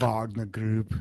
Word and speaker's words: Wagner: The head of, and people call it Wagner Group. Wagner Group. Thank you.